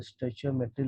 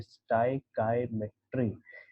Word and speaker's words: stoichiometry: देखिए स्टाइकाईमेट्री, इसका जो प्रोनाउंसिएशन है दैट इज, ये अगर आप पढ़ने जाओ तो स्टोइचियोमेट्री लगता है, लेकिन इसका प्रोनाउंसिएशन है स्टाइकाईमेट्री। STOI, इसको स्टाई पढ़ेंगे। CHIO, इसको काई पढ़ेंगे, और ये हमारा मेट्री है।